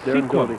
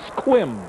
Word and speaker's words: Sequim: We said that, Doty is yeah, from Sequim, Sequim, Washington. There's no such town as Sequim. It's Squim, Squim, Washington. Even though it is spelled S-E-Q-U-I-M.